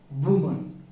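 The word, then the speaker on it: women: बीवी ऑफ, यहां पर प्लूरल होगा बाबू, इसको प्रोनाउंसिएशन हम क्या कर देंगे, बीमिंग, क्या पढ़ेंगे, बीमिंग। और इसका सिंगुलर में वुमन।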